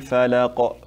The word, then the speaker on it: الفلق: قل أعوذ برب الفلق And when you stop on qafs, we make what's called qalqala, like it's an echo. You hear it, like the way I'm saying it right now. Birabbil falaq, falaq. You hear that sound? Falaq at the end. Try to make that sound.